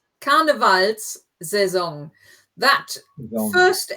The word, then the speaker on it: Karnevalssaison: Or beginnt die Karnevalssaison. Karnevalssaison. That Saison. first S in that word, because you recognize the word carnival and saison, and the S in there just makes it easier to pronounce. So Karnevalssaison.